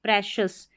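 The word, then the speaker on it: precious: PRE को प्री या pray दोनों तरीके से प्रोनाउंस कर सकते हैं। प्रे, और CIOUS को शस, प्रेशस या प्रीशस, प्रेशस या प्रीशस, यानी कि बहुत कीमती जो होता है, मूल्यवान, प्रेशस।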